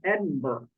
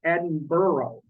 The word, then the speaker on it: Edinburgh: here you'll notice that the name Edinburgh is not pronounced the way it spelled it spelled e-b-i-n-b-u-r-g so it looks like it could be pronounced Edinburgh but it's actually pronounced Edinburgh okay so you might